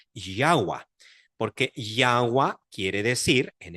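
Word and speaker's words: Yahweh: bastante lógico de hecho ciertos eruditos dicen que no se debe decir yahwe sino se debe decir yahua porque yaha quiere decir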